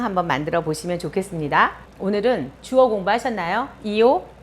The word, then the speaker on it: ho: 오늘은 주어 공부하셨나요? 이오, 뚜, 루이, 레이, 노이, 보이, 로로. 그죠? 그 주어에서 아베레 동사로 갈 건데요. 아베레가 오라고 그랬어요. 오, have. 그래서 HO가 되지만 발음은 O예요. 그래서 이오, 오, 자막 처리 되겠죠?